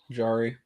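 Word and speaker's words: Jarry: to the Bruins okay yari's like a jar that's how they say it in in Pittsburgh well there you go jari because he gets Jarred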